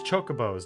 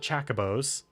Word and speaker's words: Chocobo: chocobos in the finals your pronunciation is all wrong it's chocobos not Chaca Bo's hi Oh II can